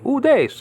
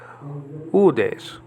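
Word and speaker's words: οὐδείς: iota and final sigma the iota has a graph marker so you don't say oh these you say udes okay that means no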